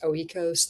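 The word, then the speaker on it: Oikos: some of these like I think they're pronounced oeos.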